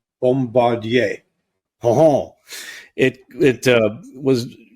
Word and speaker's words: Bombardier: Bombardier.